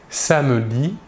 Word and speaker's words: samedi: Le E caduc précédé d'une seule consonne prononcée, cette consonne est donc prononcée, le E caduc n'est pas prononcé. Nous dirons par exemple « samedi »,« rapidement » ou encore « Catherine ».